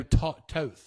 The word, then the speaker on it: Toth: In the 602 Crate Sportsman mods was Joe Toth. I would imagine that's how you say it, Toth.